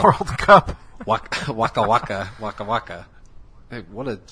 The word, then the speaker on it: Waka Waka: Yeah, so no, that song sounds just like Waka Waka.